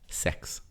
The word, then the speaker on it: CeX: e dox right so you're wrong oh no hold on hold on no uh CeX limited trading as CeX pronounced sex British retailer how sexy